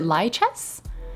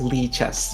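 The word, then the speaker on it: Lichess: over now to you you pronounced it lie chess it's actually pronounced Lee chess but I say light chests because I'm wrong my pronouns are she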